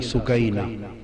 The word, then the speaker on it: سکینہ: لخت جگر شہزادی سیدہ سکینہ، اصل نام ان کا عربی وزن میں سکینہ ہے، عرف عام میں سکینہ چلتا ہے، مگر اصل لفظ سکینہ۔ سیدہ میں عرف عام